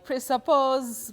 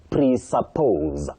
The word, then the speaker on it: presuppose: Now, that is that S takes the voiced sound Z. Mhm. presuppose.